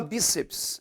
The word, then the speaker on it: bíceps: tem que ser verdadeira olhando só a palavra bíceps é acentuada porque é uma palavra paroxítona terminada